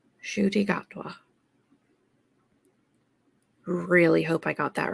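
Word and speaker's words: Ncuti Gatwa: this correct because I have looked at the pronunciation shy gatwa shoy shoy gatwa really hope I got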